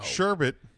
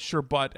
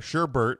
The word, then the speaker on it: sherbet: okay what the today no sherbet pronounced sure sh ER data but sherbet is the usual word for the frozen you're saying sure bit but this is your but you're gonna call it sure but how Miriam wants you to call it pronounce